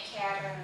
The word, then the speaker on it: Kharen: Jadi Karen tuh KHAREN, Karen, but oh, dibacanya Karen.